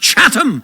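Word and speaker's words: Chatham: So what is the Catham House rule? So let's pause and explain exactly what it's pronounced Chattam, not Cath.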